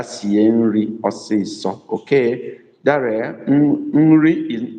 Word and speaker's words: nri: Daria, nri is not uri, it's nri, N-R-I.